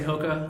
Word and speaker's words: HOKA: Do I say it right when I say HOKA?